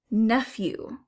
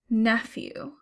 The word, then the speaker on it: nephew: Nephew. Nephew. I hear F and it's a PH in the middle of the word.